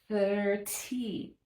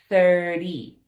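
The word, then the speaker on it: thirty: So many times we see the spelling of 30 and we think 30. No, we don't have to say that with a T. It's 30 like a D.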